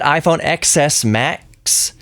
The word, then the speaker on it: iPhone XS Max: But that iPhone XS Max, I said it right. iPhone XS Max starts at $1,099.